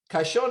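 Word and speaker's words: caxon: spanish put it in the drawer kid so kashon is spelled c-a-x-o-n so we pronounce the x as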